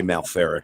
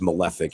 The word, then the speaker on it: Malefic: always say no right i always say malfear it's malefic yeah they were great